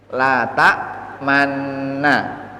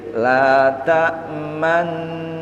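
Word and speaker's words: لا تأمنّا: Tapi ketika diucapkan bunyinya tidak sesuai dengan tulisan. Menjadi la ta manna. Kita gali dulu ismam. Apa ismam? Di tengah-tengah dengung bibir harus mencucu sebagai isyarat dhammah.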